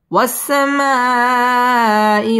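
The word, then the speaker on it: والسماء: ওয়াসসা সিন তাসদীদ ওয়ালা হরফ, ওয়াসসামাই মধ্যে মুত্তাসিল 4 আলিফ টান দিয়ে পড়তে হবে।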